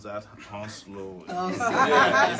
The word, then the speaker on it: Hounslow: And somebody corrected us when you know how we're trying to pronounce that Hounslow. Yeah, it says Hounslow.